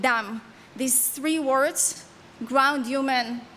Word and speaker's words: dam: In Hebrew, my mother tone, the words ground, human, and blood are pronounced as adama, Adam, and dam.